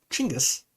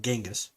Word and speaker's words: Genghis: The first Mongol Empire was founded by Chinggis, not Genghis, Chinggis, but it's spelled G-E-N. It's pronounced Ch, but anyway, in 1206.